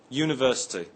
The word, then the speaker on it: university: Let's look at the word university. We say a university, not an university. The word university begins with a U, but is pronounced with a Y sound at the beginning.